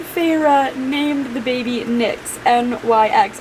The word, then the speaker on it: Nyx: Rhys and Feyre named the baby Nyx, N-Y-X, I think that's how it's pronounced, Nyx.